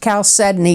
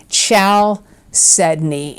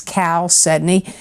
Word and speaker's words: chalcedony: and it is pronounced chalcedony even though it looks like ciao Sydney it's Cal Sydney and it's spelled c-h-a-l-c-e-d-o-n-y